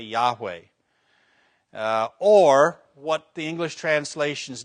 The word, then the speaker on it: Yahweh: this and say Yahweh if you're going to pronounce the name say Yahweh or what the English